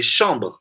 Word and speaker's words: chambre: Mas é como acontece muito em músicas antigas, o E final ele é mudo. É chambre. Quando a gente fala ma chambre. Meu quarto. Que é feminino, aliás, em francês. Ma chambre. Meu quarto. Quando canta, para bater o ritmo, assim, hein, as sílabas, a gente fala chambre. Como se tivesse o som E no final.